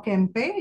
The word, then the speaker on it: Kempe: the book of marjerie Kemp or kempe you can pronounce either ways so which was rediscovered